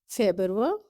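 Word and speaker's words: Februar: آواز سے نکالیں گے۔ فیبرور کی آواز حلق سے نکالیں گے۔ مرچ، اپریل، مئی، یونی،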